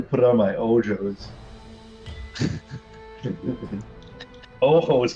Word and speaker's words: ojos: Ojos, but you pronounce the J.